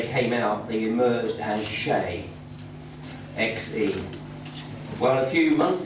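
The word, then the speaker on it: Xe: It goes by the name of Shay. But even if you go Google Shay, you won't find it, because Shay is spelled X-E.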